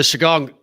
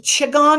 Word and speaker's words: qigong: was going to say the chigong chigong or shigong it's qigong it's spelled q-i-g-o-n-g and it's very similar